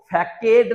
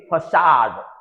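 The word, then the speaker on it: façade: लेकिन ये एक वर्ड देखिएगा, सी के बाद ए है लेकिन इसके बाद भी इसको फैकेड नहीं पढ़ेंगे, इसको पढ़ेंगे फसाड।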